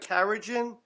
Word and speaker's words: carrageenan: Um so, can we Are you talking about carrageenan? Carrageenan. That's how you pronounce it.